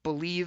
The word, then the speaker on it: BLEAV: If you haven't heard my new show, it's called Believe in Lions, but it's spelled BLEAV.